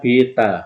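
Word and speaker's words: beta: antara C dengan eksitu namanya Vita ini bacanya Bita Oh ya dalam fisika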